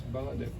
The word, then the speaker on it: Baladev: It's Baladev.